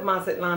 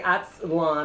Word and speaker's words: Mazatlán: And I've heard of Mazatlán. I've never been there. And I didn't know that, that it was silent like that. Yeah. Because I think the Americans say Atzlan or something.